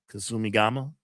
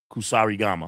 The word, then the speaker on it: Kusarigama: Kasumigama? Kusarigama.